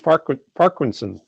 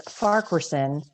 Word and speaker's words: Farquharson: and tonight i apologize i just mispronounced your last name it's parkwanson is that correct well it's farquersen but you've gotten closer than most people so so kudos